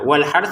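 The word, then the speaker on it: وَالْحَرْثِ: Nah, wal hart di sini ada dua sukun. Pertama ro yang memang bertanda sukun. Kemudian tsa yang kita baca sukun karena kita berhenti. Wal hart gitu ya.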